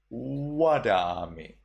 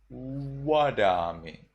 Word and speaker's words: Vadami: The second rule, instead of V, we read W. W. So here, instead of Vadami in Sri Lanka, in Myanmar you will read Wadami. Wadami.